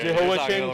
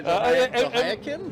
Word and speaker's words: Jehoiakim: Dude, Jehoiakim, I'm with you, bro. pronunciation guy. Jehoiakim?